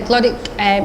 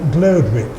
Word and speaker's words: Glodwick: So I went to Glodick Infants. Sometimes pronounced a particular education officer in Oldham, when I taught in Oldham, used to call it Glodwick.